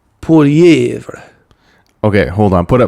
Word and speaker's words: Poilievre: Yo, people in our comments, is Thorun pronouncing Polyev right? Poilievre.